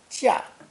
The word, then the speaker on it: 架: Our third character pairs 加 with the wood radical 木 that we saw in lesson 4, to create a new character pronounced 4th tone, 架, 架.